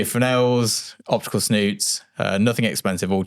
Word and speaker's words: Fresnel: So they are Fresnel's spelled Fresno which is how I pronounce it for years. They frenels optical snoots.